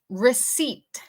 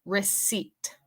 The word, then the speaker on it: receipt: Number 4, receipt. Receipt. En esta palabra, la P es muda. La P es muda. Receipt.